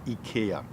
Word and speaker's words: IKEA: your house that is ikea ikea that's a swedish pronunciation and the english we saw ikea ikea ikea okay it's actually ek that's